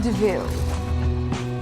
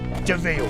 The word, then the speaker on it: de Vil: Cruella de Vil. It's spelled devil, but it's pronounced DeVille.